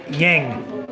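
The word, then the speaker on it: Yeng: Like my wife's nickname is Yang. It's spelled Y-E-N-G.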